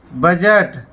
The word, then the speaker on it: बजट: है इसी तरह से बजट हुआ है कि यहां भी असली साइलेंट है बजट कि बजट आप